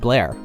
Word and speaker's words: Bel Air: Because it's spelled like Bel Air. Yeah, it's Bel Air Road. But they pronounce it Blair.